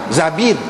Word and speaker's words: Zubair: dia H Sul Zubair ada juga setengah-setengah ulama kata Zabir bukan Zubair Zabir tetapi masyhurnya Zubair H hak masyhurnya Zubair zubaah binti az-zubair sepupu